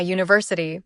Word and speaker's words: university: On the other hand, we say a university because university starts with a U sound, which is a consonant.